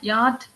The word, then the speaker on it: yacht: Sir, yacht. Very good. இந்த என்னென்ன பேசிக்கா அந்த CH சைலண்ட். Yacht. நல்லா பாருங்க, இந்த CH தூக்கிடுங்க. YAT கூடியது. Very good.